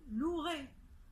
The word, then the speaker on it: louerai: louer مثلا بنقول je louerai. هو في E في je louerai موجودة بس مش بننطقها، احنا مش بنقول je louerai، احنا بنقول je louerai.